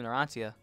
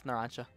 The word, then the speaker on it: Narancia: I used to pronounce his name Narancia. But it's Narancia. She was like naranja, which is orange in Spanish.